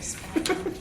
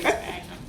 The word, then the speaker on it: sphagnum: I think you don't pronounce the H, you say sphagnum. That's a sphagnum.